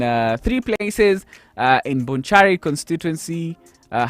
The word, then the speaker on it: Bonchari: held today in uh three places uh in bonchari constituency uh how do how do you say that felix bonchard that's that's the correct pronunciation bonchari do you know the place yeah yeah in